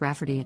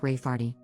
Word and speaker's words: Rayfarty: name my niece Rayfarty, pronounced Rafferty, not at all like Rayfarty.